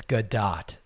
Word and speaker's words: Gadot: I'm pretty sure it's Gadot and not Godot, even though it should reasonably be Godot. I think I've heard her pronounce it Gadot.